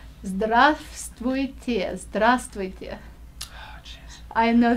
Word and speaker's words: здравствуйте: you have to say здравствуйте, здравствуйте. Oh, jeez. I know that's a hard one, and you know what? I had to spell that word Yeah. with so many silent letters in it.